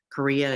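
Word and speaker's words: chorea: is called huntington's korea korea is spelled with a ch not a k like the country korea means the limbs are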